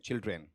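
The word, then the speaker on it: children: हां चिल्ड्रन या चिल्ड्रन चिल्ड्रन drawn नहीं होता बल्कि ड्रेन चिल्ड्रन बताओ जी पहला पहला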